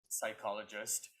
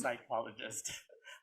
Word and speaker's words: psychologist: was silenced i said psychologist and my teacher was like this is english week the p is silent it's a psychologist i was like oh